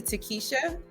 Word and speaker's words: Takisha: add is that so my first name is actually takisha yeah so um just to clarify on that side and I get a lot of um mispronunciations with my name but I was named after my brother's um first grade crush so um yeah I like to always get that right just on his behalf